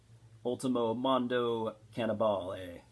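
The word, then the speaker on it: Ultimo Mondo Cannibale: the debut album from 1990 uh from impetigo ultimo mondo cannabale that's how you pronounce it you might know if you know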